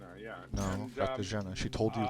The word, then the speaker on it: Katarzyna: because we're even saying Katarzyna because that's what most of the time we said, but it's Katarzyna. And so like the R is silent and all this kind of stuff.